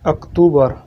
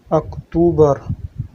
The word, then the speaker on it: أكتوبر: In Arabic, we also call it أكتوبر. أكتوبر. أكتوبر. أكتوبر. November. November. In Arabic, we pronounce it نوفمبر.